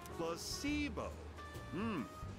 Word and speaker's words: placebo: Placebo. The stress is on the middle syllable.